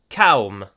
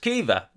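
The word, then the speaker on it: Caoimhe: spelt c-a-o-i-m-h-e which obviously for an english-speaking person looking at that you would say calm or maybe calm hey um but it's pronounced kiva um and i i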